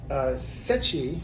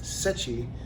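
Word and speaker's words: Seki: these two are from Sechi. I believe that's the right way to pronounce it. It's spelled S-E-K-I, but I believe it's pronounced Sechi.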